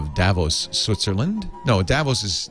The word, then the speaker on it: Davos: official badge that gets you into things at Davos.